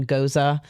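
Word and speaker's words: Gose: It's called a Goza. It's spelled G O S E. But I want to try this really bad. I know. I One of my favorite beers is a cucumber Goza.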